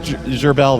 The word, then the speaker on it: Gerbz: It's GERBZ. BZ? Yeah, it's French. Okay. It's pronounced Gerbel, though.